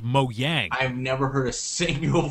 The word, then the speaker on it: Mojang: It's pronounced Mojang.